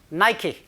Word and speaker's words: Nike: Nike, 니케라고 읽지는 않겠죠. Nike, H&M, and other big Western brands.